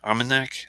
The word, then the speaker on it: Armagnac: not the cognac but the Armagnac arm and neck that is how you say it Armand axe are a